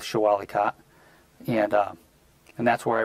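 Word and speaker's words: Shah Wali Kot: cop show a leco people pronounce it a lot of different ways I'll go with show Ali khat and and that's where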